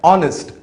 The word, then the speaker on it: honest: इन दोनों शब्दों में H जो अक्षर है ये साइलेंट है, हम इसका उच्चारण नहीं करेंगे, तो इसलिए ये शब्द शुरू होते हैं वावल O की आवाज से।